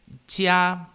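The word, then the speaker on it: 家: E para quem estuda chinês ou tem a curiosidade em saber, a pronúncia desse caractere chinês é jia, no primeiro tom.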